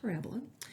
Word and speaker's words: parabola: not looks like it's spelt parabola but it's pronounced parabola and there are some key parts to this